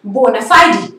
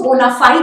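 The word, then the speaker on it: bona fide: Next word is बोनाफाइड. कुछ लोग इसको बोनाफाइड भी बोल सकते हैं. बोनाफाइड is also the right pronunciation, but the exact pronunciation is बोनाफाइडी, बोनाफाइडी.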